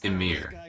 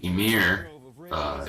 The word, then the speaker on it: Ymir: And I want to say his name is Ymir, right? And so Ymir, he birthed all the giants and the gods also. But when Odin saw how fast they could reproduce, or how fast Ymir could reproduce, he decided to kill him.